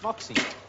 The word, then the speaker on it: Moxie: Do you think you could stop calling us Moxie? I'm now. Is that the best you could get? I mean, Moxie's all right, I can get away with that, because it rhymes with Poxy, that's no bother, but